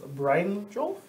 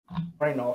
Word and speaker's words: Brynolf: Brian Jolf? Brynolf. Oh, that's a Y. I think it's like Brynolf. Yeah, Brynolf. Brynolf. Like a Y in that.